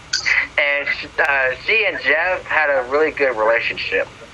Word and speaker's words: Geoff: Jeff. Yep. I'm going to pull up Mommy Gee. It's spelled Geoff.